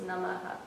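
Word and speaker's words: नमः: so that means that it echoes the sound that comes before it so it's actually pronounced namah but because um we're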